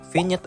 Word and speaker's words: vignette: Nah, vignette effect, vignette, nyet, itu monyet. Vignette, ya emang begitulah dibacanya, bukan vignette.